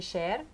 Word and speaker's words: Schär: You have the umlaut over the A. Yeah, but I already got used to the Schär. So okay. It's usually Schär, means scissors in German.